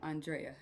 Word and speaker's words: Andrea: Mal and Andrea. Mal and Andrea. Sorry, I was going to say it wrong and Marley caught me.